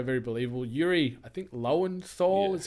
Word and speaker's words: Lowenthal: and Peter Parker very believable Yuri I think lowenthal is how you pronounce his surname uh he was great in